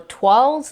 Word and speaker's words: toiles: You have des toiles, or toiles if I'm pronouncing it in an English manner, which are unfinished mock-ups,